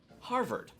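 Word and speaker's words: Harvherd: vegetable medley is based the creature species is Harvard because they heard the harvest that is that is spelled HEA r v h ER d or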